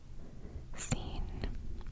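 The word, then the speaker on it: سين: English so for example scene although it's kind of difficult to write at first is like the letter s so that's literally how it's pronounced scene scen scene scene scene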